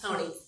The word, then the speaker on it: Honea: Am I saying that properly, Ms. Honea? Honey. Honey. Yes. Okay. You're all saying it wrong.